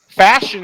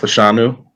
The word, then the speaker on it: Fashanu: New York Jets selected Olu fashion is what I'm told is how you say his name fashion fashion now not fashanu that's what I'm being told but I'm you know